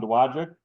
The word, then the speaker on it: Dowagiac: So we look forward to seeing you around Dowagiac. Say Dowagiac. Yep. You can pronounce Dowagiac.